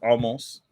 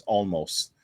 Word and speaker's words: Omos: I picked Omos. I don't know how to say his fucking name. I say it as almost. It's but it's Omos. It's spelled almost.